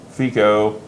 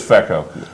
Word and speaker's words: feco: been rso or feco fico fica it's not fico it can't be it's exactly it really is feko um so uh i'm